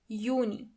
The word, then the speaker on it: Juni: As you know, the letter J is not pronounced as J, but as Y. So together you have Juni, June.